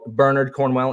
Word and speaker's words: Bernard Cornwell: it's so good like bernard cornwell wrote it bernard cornwell if you're british which is just a better pronunciation of that burn it um so yeah